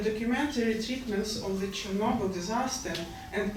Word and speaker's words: Chornobyl: Bogart, The Babushkas of Chernobyl, and Chad Garcia's The Russian Woodpecker. One remark, I pronounce Chernobyl according to Ukrainian phonetics, and for me it is Chernobyl.